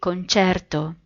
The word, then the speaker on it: concerto: Italian people, like me, say concerto.